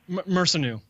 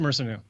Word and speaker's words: Mersanu: How do you pronounce his name? Yeah. Mersanu. Just Mersanu. Mersanu, yes. And it really kind of,